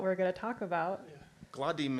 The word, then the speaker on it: gledam: Gladim is how you say I see. Gledam.